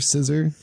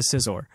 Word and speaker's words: Scizor: Well, Scissor. How do you actually pronounce it? Scyther turns into Scizor. Yeah, Scizor. Yeah. That's how Scizor is correct. That's how the Scizor is correct. I pronounce it Scissor too.